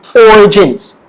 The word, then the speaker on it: origins: All right, next word will be origins. Origins, say it with me, origins. The stress is on the word, is on the sound or. Okay, origins. Okay, you make sure your mouth is round.